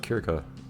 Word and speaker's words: Circe: I really just like Kirka, which I think these days it's usually pronounced Circe or something instead.